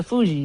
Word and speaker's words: Fugees: It's the Fugees.